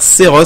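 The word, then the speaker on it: Seroth: Oh, non mais je te jure franchement il est vraiment vraiment marrant ce youtubeur Seros. Ça s'appelle, ça s'écrit S-E-R-O-T-H.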